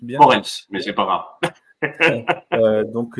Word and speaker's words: Moritz: Et donc, ce soir, nous recevons Moritz, je le prononce bien. Moritz, mais c'est pas grave.